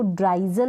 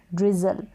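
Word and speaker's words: drizzle: यहाँ पर है, अब इसको ड्राइजल नहीं पढ़ेंगे, इसको पढ़ेंगे DR को ड्र ई जल, ड्रिजल, ड्रिजल, LE को ल प्रोनाउंस करेंगे, डबल ये जो Z है इसको ज प्रोनाउंस करेंगे।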